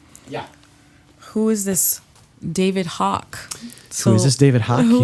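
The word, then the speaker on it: Haack: a a c k everyone wants to say that you're a hack but it's a it's Hawk like two vowels a rock two of the same vowel see two of the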